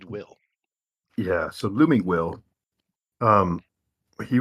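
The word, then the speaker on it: Wyll: W-Y-L-L. How's that pronounced? Let's see. Is that Will? It is indeed. W-Y-L-L. It is indeed Will.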